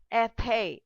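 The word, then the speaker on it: été: Now seventh, it's an acute. It's pronounced like a. Ethe, ethe. That is summer.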